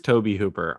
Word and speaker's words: Tobe Hooper: __ ] kidding me it is Toby Hooper I don't know it's like it just looks weird totally yeah maybe it needs a little Accent on the E Toby yeah like Kobe beef from the Kobe region of Japan this is his third